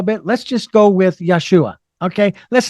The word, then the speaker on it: Yeshua: That is wrong, because we can pronounce the Hebrew name of that man, and it is not Jesus. That is Greek. But the Aramaic, if I'm correct, is Yeshua.